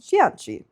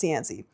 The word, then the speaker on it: Cianci: no, I understand that if you speak Italian, his last name should be pronounced Cianci. But he's Italian-American, so his name is pronounced Cianci. Them's the rules.